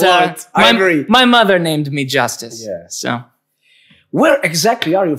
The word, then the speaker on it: Justus: want to ask you about your name yes Justice that means PR yes did I pronounce it good justice justice yes that's right